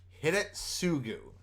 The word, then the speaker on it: Hidetsugu: can't pronounce that right how do you say heartless hit at suku hit it sugu okay all right i know